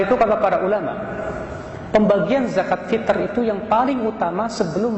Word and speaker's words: zakat fitr: yang benar pengucapannya zakat fitr bukan zakat fitrah. Sebuah kesalahan kaum muslimin di Indonesia mereka menyangka kata fitr itu artinya fitrah.